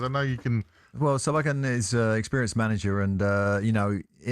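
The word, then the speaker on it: Solbakken: Sabalken, that's it. Sabalken. That's correct. Yeah, and I was lining up for you to do it because I know you can. Well, Sabalken is an experienced manager, and in a way,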